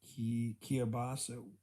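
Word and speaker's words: kielbasa: fruit passion fruit whatever that's really nice actually pronounced ki kia basa weird polish w i like to i love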